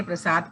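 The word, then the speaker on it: ਪ੍ਰਸਾਦਿ: इसे सुर प्रसाद उन्हें जो दद्दे नू सिहारी है ना जी, ये साइलेंट है, ये शादी नहीं पढ़ते, प्रसाद पढ़ते हाँ।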